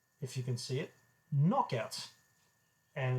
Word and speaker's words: Noch Out: I've heard some people call it Notch Out because it would look like Notch, except it's missing the T in the middle. But it's pronounced Knock Out in collaboration with Bladnoch.